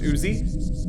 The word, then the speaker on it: EWZZY: I'm at EWZZY everywhere. It's just pronounced Uzi. Nothing weird about it.